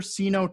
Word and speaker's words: Seeno: We got Jennifer Seeno Tucker on the call. Did I pronounce everything right there?